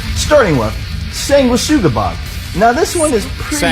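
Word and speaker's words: Sanguisugabogg: Sanguisugabog is what he said.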